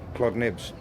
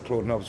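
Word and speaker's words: Claude Nobs: And so we were lucky enough to get the help from Claude Nibbs. I say Claude Nibbs, everyone calls him Claude Nobbs, but I know his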